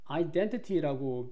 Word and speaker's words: identity: 엊그저께 저기 수업을 들었는데요 identity라고 미국 사람들은 거의 읽지 않는다 하더라고요 10명 중에 8명에서 9명은 T 앞인 이 N과 뒤에 I 사이에 나온 T를 소리를 안 낸답니다 그러니까 identity라고 읽는 미국인은